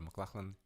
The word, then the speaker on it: McLachlan: thanks for your tip so apparently I am saying it right the name of Sarah McLachlan yes I like it's